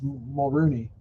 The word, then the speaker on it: Mulroney: But how did you actually pronounce his name? Mulroney. It's Mulrooney. But, see, okay, I'm not truly Canadian.